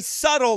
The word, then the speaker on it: subtle: Very subtle, like Satan. Subtle. The B is silent.